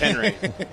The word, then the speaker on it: Henri: No, that's what it is. It's just Henri. That's how you say it. One name, one pronunciation.